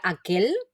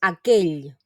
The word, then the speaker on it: aquell: esta esta elle y no debemos pronunciarla como una l no sería aquel sino que la pronunciación cora es aquell lo que pasa que